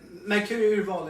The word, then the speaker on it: Mercuri Urval: Mercuri Urval is a Swedish pronunciation of my firm. Mercuri is Mercury as a star, and Urval is selection in Swedish.